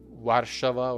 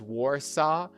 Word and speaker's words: Warsaw: It is not Warava or something like that. It is Warsaw is the capital of this Eastern European country.